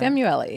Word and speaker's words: Samueli: Did I pronounce that right? Samueli, yes.